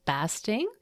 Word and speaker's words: Basting: Basting, am I pronouncing that right? It's basting like a turkey.